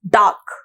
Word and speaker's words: dark: डार्क, अब डार्क के अंदर हम लोग कैसे प्रोनाउंस करते हैं डार्क को? डार्क। ठीक है, तो इसके अंदर जो है आर साइलेंट हो जाता है।